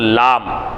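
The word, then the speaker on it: لام: கிதாப் அல்லாஹ் குர்ஆன்ல அடுத்து லாம் லாம் லாம் லாம் லாம் எப்படி உச்சரிப்பீங்க நுனினாவை மேல்முரசின் முன்பாகத்தில் சேர்த்து உச்சரிப்பது லாம் லாம் சரிங்களா அலிஃப்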